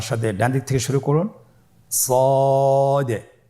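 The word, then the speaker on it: ص: শুরুতে আমরা শুরু করছি সদ। সদ হরফটি পুর হরফ। মোটা হরফ উচ্চারণ ক্ষেত্রে মোটা করে পড়তে হবে এবং উচ্চারণ করার সময় তিন আলিফ টেনে পড়তে হবে। আপনারা আমার সাথে বলুন সদ আবার বলুন সদ।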